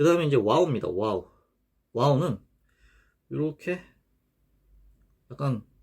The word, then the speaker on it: و: 요 와우의 음가는 이제 W 또는 U 이런 식으로 발음 표기가 됩니다.